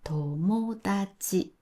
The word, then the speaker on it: 友達: でもこれをダちという人がたくさんいます。 4 文字の時にたタが多いんですが、そのパターンのアクセントは日本語にはありません。なのでターって言うと日本語っぽくなくなります。友達は友達です。